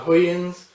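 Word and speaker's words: Hugens: you can see it i believe it's pronounced uh huyans and acosta it's a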